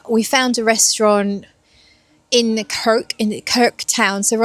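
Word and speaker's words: Krk: Uh we woke up and today we went for a day out to an island called Kirk. I think that's how you say it. It's spelled K R K and it's about an hour's drive from here.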